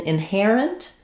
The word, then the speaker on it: inherent: In inherent, it's the air diphthong. So just like in hair or air, and that syllable is stressed, so it's going to be longer and have that clear vowel. Then my in is going to be short, and my inherent, is also going to be short. You're going to have a little tiny or I sound there. It's a reduced vowel in this last syllable.